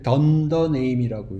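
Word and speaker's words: dunder name: 이게 더블거든요 요걸더라고 불러요 그래서 이걸 읽을 때 던더 네임이라고 읽어요 레이라는 그 변수가 생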